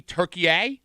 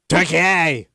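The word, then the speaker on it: Türkiye: They're calling Turkey Turkeye. Like and that's how they pronounce it in Turkey. Turkeye.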